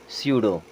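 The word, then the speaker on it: pseudo: पी होता है silent उसी प्रकार यहां पर भी प साइलेंट है इसे क्या पढ़ते हैं सूडो क्या पढ़ते हैं सूडो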